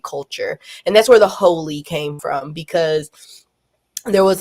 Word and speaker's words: Heauxly: Um, I operate the page Holistic Healing, but specifically Holy House. Um, and that's spelled H E AUX. So, big emphasis on hoe because we support all the hoes here. Um, and I created Holy House when I was